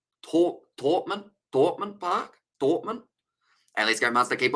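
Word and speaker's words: Thomond Park: And the Sharks need some help on Thorpman Park, pronouncing try a silent H. Thorpman Park.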